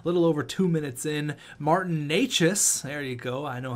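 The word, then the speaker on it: Martin Nečas: big goal a little over two minutes in Martin Neches there you go I know how to pronounce that name now and then Trent Frederick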